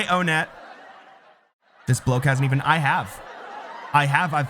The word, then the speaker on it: Onett: I pronounce this Onett. Why? Because the next town is called Twoson, and then it's the third town is Threed, and then it's Fourside. So I'm like, oh, they're like numbers.